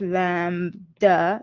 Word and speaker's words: lambda: So remember lambda this is pronounced lambda like a lamb but then duh this is a wavelength and then we have h which is plank's constant and then we have m here.